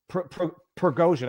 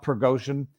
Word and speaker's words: Prigozhin: morning initiated by pergosian progosian I think is his proper pronunciation uh who is the